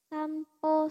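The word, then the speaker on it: 散歩: Kalau ketemu kanji ini dia dibacanya jadi po. Sampo suru artinya jalan-jalan ya.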